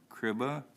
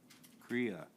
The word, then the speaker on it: Kriya: Okay, then, the next individual, and I won't be able to pronounce this, but Jim, is it Kriba? Kriya. Yep.